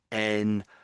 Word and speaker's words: enhanced: of the time, we we pronounce it as something like a like a breathing sound, like a heavy breathing, like that sort of a sound. So here, this word is enhanced.